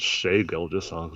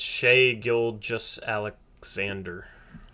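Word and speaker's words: Shai Gilgeous-Alexander: any ground on me it's not shea girl just songs andrew well you know how basketball reference has pronunciations for player names so let me just look it up right now it's shay gil just alexander that's how basketball reference has it i'm gonna i'm gonna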